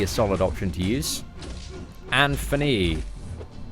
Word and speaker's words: Anthony: See, my boss is also from the UK, and I noticed she don't pronounce the T in Anthony. Anthony. Is this a common thing? That this is how I'd say Anthony, like this.